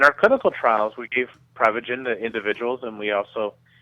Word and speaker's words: Prevagen: Well, technically it's pronounced Prevagen, but what Prevagen is